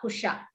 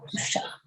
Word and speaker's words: Kusha: So here in Sanskritam we say Lava Kusha. We don't say love and Kush. Lava Kusha. Lava and Kusha.